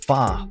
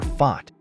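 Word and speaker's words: 發: love this one because it sounds like fa Mandarin or fat Cantonese which means Prosperity want to see prices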